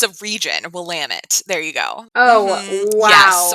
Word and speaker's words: Willamette: Tell us how badly we butchered that wine. So it's a region, Willamette.